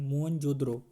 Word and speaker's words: मोहनजोदड़ो: मोहनजोदड़ो शब्द का सही उच्चारण मोहनजोदड़ो।